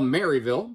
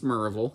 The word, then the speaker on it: Maryville: boy might like I've got some cousins in what I would call Maryville but down there everyone knows it's Marvel kind of like Louisville